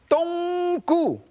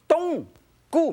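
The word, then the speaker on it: 冬菇: Donggu. Everybody at home should learn how to say it. Donggu means Chinese black mushroom.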